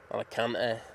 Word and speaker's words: Alicante: Alicante, that's how you say it here, mate.